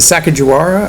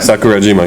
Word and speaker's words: Sakurajima: Is it Sakajiwara? Sakurajima, yeah.